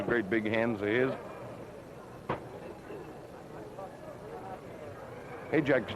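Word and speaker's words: Hajdek: Hayjack's name is spelled H-A-J-D-E-K. Hayjack. It's Bohemian, I believe.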